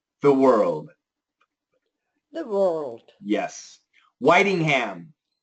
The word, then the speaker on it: Whitingham: Whitingham. Whitingham. It looks like Whittingham, right?